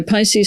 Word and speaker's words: PISCES: So PICE stands for the private intermittent securities and capital exchange system regulation where the IR is silent.